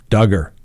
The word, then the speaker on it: Duggar: to make sure we pronounce his name duggar that's right rhymes with hugger all right let's take